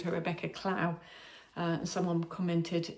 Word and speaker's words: Clow: And yeah, my next finished project is my Kintra bag by Rebecca Clow. Somebody corrected me. I think in my last podcast I called her Rebecca Clow. And someone commented, it rhymes with snow.